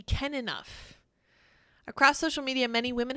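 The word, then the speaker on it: Kenough: pronounce this is he can Nuff as in is he can enough across social media many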